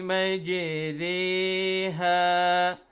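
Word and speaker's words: مجراها: So now we have two sounds, ra and ri. So they have to pronounce this word. The sound of ra should be in between. Neither it is ra nor it is ri. It is re.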